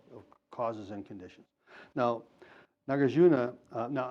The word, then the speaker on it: Nagarjuna: conditions now nagarjuna now I've heard some people say nagajuna or nagujina I don't know but the diacritical markings on the two A's were the same so I can kind of pronounce them the same so nagajuna he gave